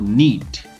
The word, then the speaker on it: knit: Sempre que o K encontrar a letra N, temos outro exemplo que é o verbo knit.